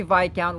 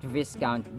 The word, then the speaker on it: viscount: naman sentence ay white Mr dictionary the nosy Vic count loves to in Mesh himself in everyone else's agenda in Mesh Vic count Vic not viscount this word is a British origin That's why